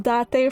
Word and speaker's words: Date: was your date then she pronounced her name as D yeah I thought it was pronounced date initially but I knew it was that day from playing it before this time so I